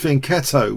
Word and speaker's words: fianchetto: And the fianchetto, pronounced fianchetto, was mentioned as being really clever.